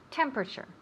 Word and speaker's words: temperature: Remember temperature and pronunciation, temperature. Temperature. We put the accent on the first syllable, temperature.